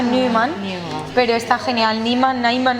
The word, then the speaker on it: Nyman: ¿Niemann se pronuncia así? Sí, está bien, no te preocupes. Es que es un apellido sueco, entonces en realidad se pronuncia Neumann, pero está genial.